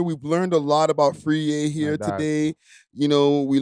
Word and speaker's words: Friyie: They're saying Friyie and Freeze and Fry, all these things.